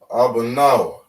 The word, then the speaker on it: Abanawa: Same here, we would pronounce ba because it's all singular. So we have a ah, ba, na, wa, right? Abanawa, which means our our Father.